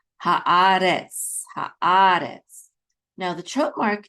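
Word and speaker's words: הארץ: with a kamatz, which says ha, and then aleph with a kamatz, which says a. So ha-a. And then we have a resh with its segol, which says re, and then tsadi together. The syllable says retz, okay.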